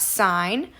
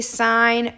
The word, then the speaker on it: sine: It is no more than two syllables. We do not say sin, cos, and tan, or cos. We say sine, cosine, and tangent.